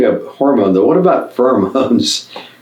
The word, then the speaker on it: pheromones: how do you spell it p-h-e-r-o-m-o-n-e this is pronounced pheromones pheromones yeah are substances which are uh secreted to